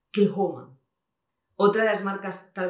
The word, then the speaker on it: Kilchoman: Luego, por ejemplo, Kilchoman no es Kilchoman, es Kilhoman.